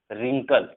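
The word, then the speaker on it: wrinkle: डब्ल्यू देखो, डब्ल्यू के just बाद अगर आर होता है तो डब्ल्यू साइलेंट हो जाता है। जैसे यहाँ पर डब्ल्यू के बाद जस्ट हम आर अगर देखेंगे तो डब्ल्यू साइलेंट, जैसे wrong, wrist, sorry wrong, right, wrist, रिंकल, ठीक है।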